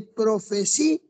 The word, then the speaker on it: profecías: De profecías, hay un yato, hay que pronunciar separado.